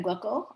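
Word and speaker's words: Glikl: little bit later than glucko uh or glickel some pronounce her name 18th century in the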